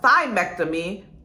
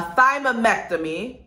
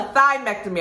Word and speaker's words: thymectomy: Three, a thymectomy. No, I pronounced that wrong. A thymomectomy. A thymectomy, I was right the first time.